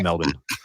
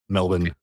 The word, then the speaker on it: Melbourne: summer so is it is it Melbourne like do you not pronounce the r or yeah we it's Australia we we pronounced the bare minimum of everything it's yeah just Melbourne m e lb n Melbourne yeah cuz I I